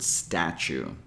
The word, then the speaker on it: statue: pay attention here is the word statue did you notice that we have two different T sounds in this word the first T sounds like a regular t as in Tom or tell but the second one